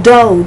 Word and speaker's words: dough: But you have the OU and the pronunciation is O, like in dough, D-O-U-G-H. This is how you get homographs in English.